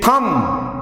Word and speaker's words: thumb: In thumb, THUMB, final B is silent.